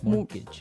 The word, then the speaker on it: mortgage: with a t yeah it has a t in it but you don't pronounce it you say mortgage morgage so not Mort mortgage